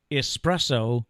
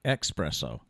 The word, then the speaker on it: espresso: It's espresso, not espresso.